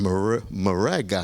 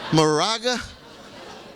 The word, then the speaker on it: Moraga: this is a special moment you are in morga huh is that how you pronounce it Moraga who would have thought in Moraga California and